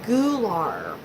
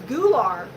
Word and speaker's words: gular: Yeah, I know, it's Gular. And I was like, oh, Gular. Good night, Charlene. Gular. Well, it's spelled G-U-L-A-R. So, I don't know. I was like, Gular? Maybe it's because I'm from Missouri.